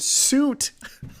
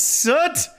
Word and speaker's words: soot: Wait, that's how you pronounce soot? Oh my, I've been calling it soot. Wait, it's soot? That's how you say it? Why would they spell it like that?